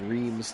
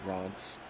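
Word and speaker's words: Reims: C but we would it would look like Reams to us but they pronounce it Rants and then we ended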